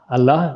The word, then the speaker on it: Allah: Allah, the way Arabic, it's not spelled with H at the end, but it's pronounced with H at the end. Giz, yeah.